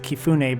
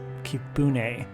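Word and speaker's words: Kibune: to our favorite bartender we didn't know if we pronounced it keun but he said it was kibun so we're not quite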